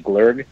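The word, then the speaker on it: glögg: Her family is from Sweden, and she's made Glog, or what they sometimes pronounce as Glurg.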